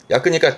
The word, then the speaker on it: 約: 혼자는 발음은 야크니까 대략 뒤에 수서 같은 거 붙여가지고 대략 몇 시간이라든가 그 대략의 약도 이 야크를 쓰게 됩니다.